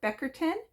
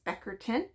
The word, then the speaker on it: Bickerton: lighthouse there called Port Beckerton. It's spelled Bickerton, but I was corrected from the people there that it's Beckerton, and that was lovely.